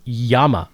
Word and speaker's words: llama: day of school, that Llama is pronounced Yama.